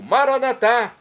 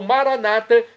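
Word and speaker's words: maranatha: eu clamo do dialeto de Jesus o aramaico maranat como dizemos nós católicos ou Maranata como dizem nossos irmãos separados os evangélicos ou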